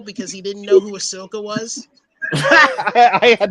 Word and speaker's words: Ahsoka: hear me call her Ashoka because Asaka unlike some of her fans, I actually know that the H comes before the S.